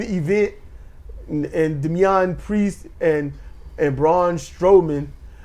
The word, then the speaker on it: Braun Strowman: So the Mazin event and Damian Priest and Braun Strowman. I keep wanting to say Strawman, but Okay, he's Braun Strowman.